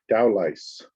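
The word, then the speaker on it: Dowlais: Scrolling down page 5, line 2, the pronunciation is dowlice.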